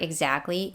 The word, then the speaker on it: exactly: of pronouncing these words in the word exactly the t is silent some people pronounce it